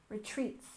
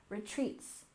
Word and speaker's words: retreats: syllable in Wellness wellness and Retreat we stress the second syllable Retreats Retreats so wellness retreats are